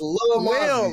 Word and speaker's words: Lil Mozzie: It's not little. It's Lil Mozzie.